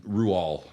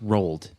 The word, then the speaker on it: Roald: Roald. Really? Yes. I thought it was Rolled.